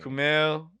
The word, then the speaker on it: Kumail: Is it Kamal Nanjiani? Kamal, yeah, Kamal. Kamal. Because I like him, and him in like kind of Kamal. I think it's Nanjiani. Kumail. Hold on, Wikipedia does how to pronounce it. Kumail Nanjiani.